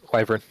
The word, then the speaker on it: wyvern: That's how you say it, wyvern.